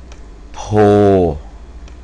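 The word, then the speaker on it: โพธิ์: วัด โพ นะ ครับ วัด โพ อ่า มัน จะ มี ตัว ที่ 1 สระอิ ตัว ที่ 2 การัน นะ ครับ อัน นี้ อ่าน ว่า วัด โพธ นะ ครับ อ ตัว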